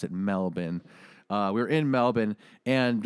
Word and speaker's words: Melbourne: in Melbourne uh it's spelled Melbourne but they pronounce it Melbourne uh we're in Melbourne and we played and